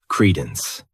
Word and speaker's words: credence: The next noun is credence. This word has 2 syllables, and the stress is on that first syllable.